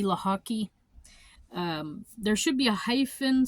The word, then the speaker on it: Lochocki: But looking at it, it's just, think of lacrosse and hockey combined, Lochocki.